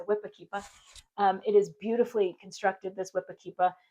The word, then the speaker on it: whipakeepa: You have to say it like that because New England it's a whippa.